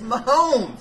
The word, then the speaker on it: Mahomes: not my Holmes yeah come on man it's my Holmes that makes me sucker yeah you know I